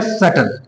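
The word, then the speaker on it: subtle: automatic क्या हो जाएगा यहां पे कक से पहले बी आ रहा है तो बी साइलेंट हो जाएगा ये हो जाएगा सटल क्या होगा सटल होगा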